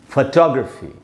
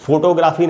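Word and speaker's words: photography: GR के बाद आप देख रहे हैं श्व साउंड है, यानी ग्रफी, फोटोग्राफी। इसलिए इसको हम फोटोग्राफी नहीं पढ़ सकते, इसको हमको पढ़ना चाहिए फोटोग्राफी। तो डेमोक्रेसी, फोटोग्राफी, इस प्रकार से उच्चारण करेंगे।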